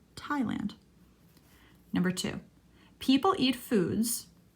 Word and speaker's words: Thailand: common bee in Thailand notice there's no th pronounciation we just call it Thailand Thailand number two people eat